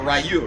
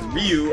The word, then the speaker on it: Ryu: guys R well that's what they said about rayu it's like rayu is like not it's Ryu or or it's Ryu Ryu is the correct